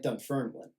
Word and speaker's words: Dunfermline: And that there is a slight Scottish thing of, putting the emphasis on the second syllable, like Dunfermline, right?